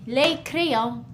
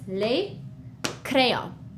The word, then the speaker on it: les: more than one and in French we say leo as you can see the s is we don't pronounce it we write it we see it when we read it but it's just leo all right good job